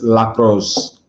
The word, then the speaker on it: Lac Rose: It's Lac Rose. I was saying it all wrong. Say it again one more time. Oh, you're saying it all wrong. Say it again. Lac Rose. Lac Rose.